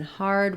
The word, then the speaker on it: hard: heard we have the ER sound and in hard we have the r sound I sometimes rewrite